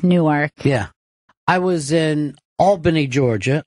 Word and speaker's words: Albany: I called it Albany, and everybody starts screaming at me, Albany. And they were really getting freaked out. And I'm like, look, the way it's fucking spelled, folks, you're mispronouncing it.